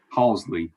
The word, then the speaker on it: Halsley: Halsley is how you say it. It's not Hazel. I was saying Hazel last week.